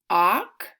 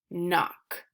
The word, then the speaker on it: knock: makes the sound mmm so the K is silent so let's sound out these words mmm oh no mmm II knew mmm knock knock the MB says mmm